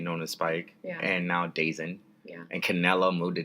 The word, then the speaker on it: DAZN: If you're gonna call it DAZN, just spell it DAZONE. Bellator, I'm sorry. It's not Bellator's fault. It's DAZN's fault. DAZN.